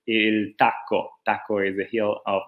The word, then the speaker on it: il tacco: Okay, so this is how you say it. It's exactly the same we call it in Italy. Il Tacco.